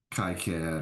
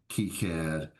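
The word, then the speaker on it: KiCad: I used Kyad or Keycad, however you want to pronounce it.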